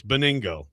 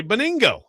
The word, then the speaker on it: Benigno: WAY, VENGIN is and you both are telling me that it's Beningo. Even though his name is spelled Benigno with a G before the N. That's how it's spelled. But apparently you say Beningo.